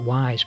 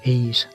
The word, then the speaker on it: Ys: history of ease I used to call it wise but apparently pronounced their ease that's good I was possibly the first console